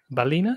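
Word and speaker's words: Ballina: okay yeah my my geography is rubbish and balina balina in ireland is how do you pronounce that lawrence you did it you did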